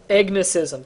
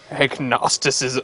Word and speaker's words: agnosticism: knows in Japan the most common belief is egnos ISM there we go there we go agnostic agnosticism I pronounced it wrong agnosticism that's what's the most awkward word to pronounce